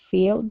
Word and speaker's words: filled: He filled the reds on the left, filling all the first couple columns. Okay, very good. Let's go to he filled. Right here, let's use a short I sound.